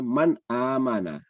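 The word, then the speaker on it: مَنْ آمَنَ: Jadi kalau di mushaf Indonesia, nun di sini ada sukunnya dan ketemu dengan hamzah, maka dibacanya man amana.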